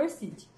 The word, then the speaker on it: ORCID: Não sei lá, mas no interior o pessoal fala ORCID. Então, a pronúncia correta, pelo que eu vi nos vídeos que eu aprendi com a Sueli, é ORCID.